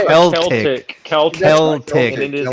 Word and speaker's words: Celtic: Celtic.